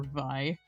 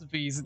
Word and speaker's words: Vi: I also cringe a little bit whenever somebody calls her Vi.